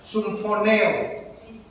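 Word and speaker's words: συμφωνέω: Viene de unas raíces griegas que se pronuncia de esta manera, sumfoneo.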